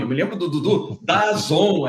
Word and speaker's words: DAZN: Eu me lembro do Dudu, DAZN, é DAZN, se escreve D-A-Z-N, mas é DAZN.